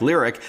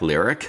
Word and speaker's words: LYRIQ: the first ever electric cadillac the 2023 cadillac lyric sold out in just over 10 minutes last